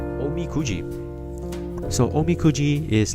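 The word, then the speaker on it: おみくじ: I think it's called Omakuji, right? I I I don't have a clue. Let me check. It's called Omi Kuji. My bad. Sorry, I butchered the name again. Uh Omi Cooji.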